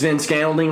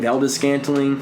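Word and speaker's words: Valdes-Scantling: Marcus Van Scantling, what the fuck you say his name? Valdez Scantling.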